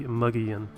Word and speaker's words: Mogollon: tell me how that comes out to be muggy in but actually had to look it up to